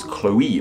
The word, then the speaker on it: Chloe: Chloe do it goes Chloe it makes that o e sound but how are we